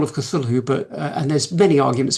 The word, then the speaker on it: Cthulhu: to pronounce it but I believe that Lovecraft originally meant the CT part sound and the hulu to be a se it's not th so the sound isn't supposed to be cthulu it's supposed to